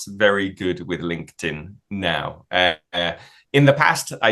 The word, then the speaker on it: LinkedIn: check for example uh we pronounce it like a t so link linked and then link tin link tin it's like two different words link tin LinkedIn perfect pronunciation anyone would